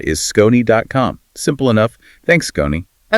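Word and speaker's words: Skoni: That's S K O N I pronounced Scon.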